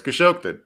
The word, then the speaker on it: Khashoggi: casper from walmart now is matt correcting your pronunciation in the chat but you heard it pronounced ten times in a news story it's khashoggi all right okay we